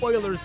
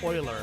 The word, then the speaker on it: Euler: I remember I read something the day that was talking about like Euler's constant or something like that, and it specifically said pronounced Euler, and I was like, yeah, it's Euler.